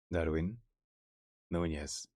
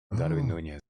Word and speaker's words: Darwin Núñez: So, in Latin American Spanish, okay, his native language, this person is called Darwin Núñez. Darwin Núñez.